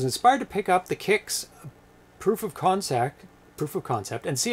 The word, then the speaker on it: Kix: If you look it up, it is pronounced Kix. Kix, like K-I-X or K-I-C-K-S. Like as in shoes, your Kix. Yeah, but I bet a lot of people pronounced it Quix.